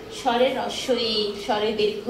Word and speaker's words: হ্রস্ব ই: এটাকে আমরা অনেকে রস্যি টস্যি অনেক কিছু বলি। এটা শুদ্ধ উচ্চারণ হচ্ছে, সেটা আমরা মানে উচ্চারণটা ভুল ভাবে করি। তোমরা যেটা বলো সেটা ঠিক, কিন্তু উচ্চারণগত ভুল। সেজন্য এটাকে আমরা আজকে থেকে বলবো হ্রস্ব ই।